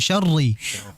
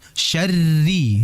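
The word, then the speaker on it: شَرِّ: Ro kasrah yang berharakat kasrah dia tipis walaupun dia bertasydid. Jadi hati-hati jangan sampai dibaca min syarri tidak syarri tidak. Bukan syarri yang betul syarri.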